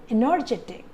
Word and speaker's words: energetic: Energetic. Energetic. And the stress is on j.